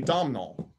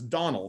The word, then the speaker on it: Domnall: And everyone called me Domnall. So that's what I always went by. Well, the correct pronunciation is Donald. The N was silent.